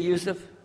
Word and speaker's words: Yousuf: Can you say Yousuf? You say Yousuf. Yeah, very good. I wish you'd teach my wife. She keeps mispronouncing it. She calls me useless.